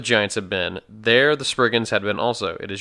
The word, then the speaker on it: Spriggans: how to say it it's it's Spriggans Bridget yeah not sprig in' whoops the spurgeon are